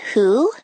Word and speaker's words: who: The words who and whole start with wh but make the H sound.